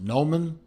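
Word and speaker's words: Gnomon: Or is it Noman with the silent G in front, that I bought my Squale Laguna from.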